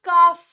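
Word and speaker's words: calf: का बछड़ा इट इज काफ ठीक है इट इज़ काफ इट इज़ नॉट काफ याद रखना ठीक है अब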